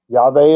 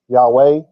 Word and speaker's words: Yahveh: Yahveh is probably the closest. It may even be right, but nobody knows that for sure. Yahweh, nope, that's 1800s. That's German influence. Their W made the V sound.